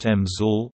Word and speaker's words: EMSL: EMSL, pronounced EMSL, or the William R.